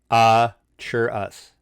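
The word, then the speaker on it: Arveiaturace: according to the Forgotten Realms, it is pronounced ARVAY-AH with the emphasis on the AH, CHURUS.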